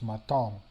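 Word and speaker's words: maison: Here, the I changes, it's not I or E, but is so this word is maton.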